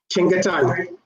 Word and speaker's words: Chengetai: In my pronunciation, in my head, it's Chengetai. Did I say that right? Chengetai. Chengetai, okay. Chengetai is Chengetai is the correct way to pronounce it.